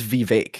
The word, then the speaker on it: Vivek: I think it's Vivek. It's Vivek like cake, I believe is the.